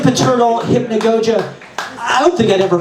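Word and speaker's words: hypnagogia: uncore hypn Goa um this kind host that we have here actually taught me how to say the word correctly last week because I realized that I don't know how to say it I only I've only read it I've never actually said it before so it's hypnogogia but um interal uncore hypnogogia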